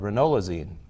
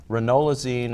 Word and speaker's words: ranolazine: is a drug called ranolazine ranolazine is approved by the FDA for treatment